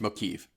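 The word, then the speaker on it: Mokivj: Uh, it's motiv. We just ignore the J. Yes, the J is silent. How do you know this?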